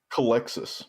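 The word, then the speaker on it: Culexus: Like I'd only look at the Culticex or however you say that. How do you say it? Calexis. Calexis. I totally nailed that pronunciation.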